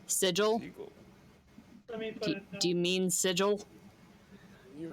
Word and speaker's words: sigil: a problem yep seagull oh that sounds like seagull but sigil do you mean sigil